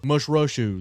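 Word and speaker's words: Mušḫuššu: Mushrushu, that's how you say it.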